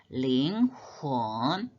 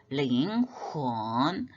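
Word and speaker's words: 灵魂: 번째 첫 번째 글자가 링혼 링 훈 요거는 발음이 어떻게 생각하면 링 훈이를 것 같은데이 h 발음이 훈 이렇게 하는게 아니고 이제 설움 목구멍에서 나는 소리이기 때문에 거기다도 이성으로 아래에서 위로 올라가게 영혼이라는 뜻이죠 그러면 6글자가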